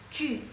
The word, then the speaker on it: 剧: 我在看韩剧, JU bacanya dia U, 剧 gitu.